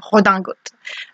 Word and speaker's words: redingote: qui en fait vient du terme anglais riding coat, donc c'est le manteau pour faire du cheval à l'origine, et quand ça traverse la Manche, nous en France on va le reprendre avec une prononciation à la française, et ça va devenir une redingote.